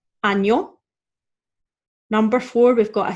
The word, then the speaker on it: año: So we're going to say año.